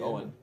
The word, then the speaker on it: Eoin: pronounced like Owen, Owen.